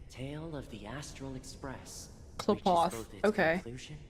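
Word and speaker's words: Qlipoth: That's how you say it, Klapoth? Interesting. The tale of the Astral Express. Klapoth. Okay. It sounds like clip clop when you're like describing a horse.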